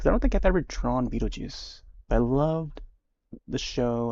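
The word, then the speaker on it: Beetlejuice: on the star but it's pronounced as you know beetle beetle and then juice okay so it's that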